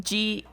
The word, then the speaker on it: Geijer: It's like Geijer, and there's like the Y is like 2 syllables, and I can't quite pronounce it quite right. It's not just gayer like Grant. It's like gay.